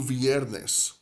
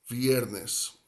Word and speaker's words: viernes: So, getting back to viernes, I happen to do the slightly, let's grip the lower lip with the top teeth, V, like Valentino, Valentina. So I would say viernes, viernes. But some of my buddies, they'll say viernes like a B, like pushing the sound out, sort of in an equilibrium fashion from like both top and bottom of the mouth, and not bringing the lip and the teeth together. They'll just say viernes.